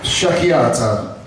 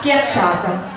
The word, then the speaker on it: schiacciata: Sciacchiata. No, how do you say that? Schiacciata.